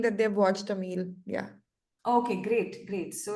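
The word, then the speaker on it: Amélie: So many people are saying that they've watched Emil. Yeah. Okay. Great. Great. So it's actually pronounced as Amily.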